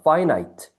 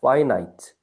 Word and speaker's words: finite: 발음 알겠나? infinite. 자 이렇게 적어 보세요. 위에 반대말. 역시 접도인을 빼면 돼요. 그럼 유한안인데 발음이 요거는 제한 해 봐. 파이나이트. 어, 그렇게 돼요. 파이나이트. 요거는 인피니트. 발음 주의하시고.